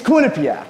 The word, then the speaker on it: Quinnipiac: It's Quinnipiac.